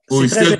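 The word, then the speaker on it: Auristel: Oristel qui s'écrit A-U-R-I-S-T-E-L. Exactement, c'est très important de faire ce distinguo parce que Oristel, mon prénom, c'est A-U.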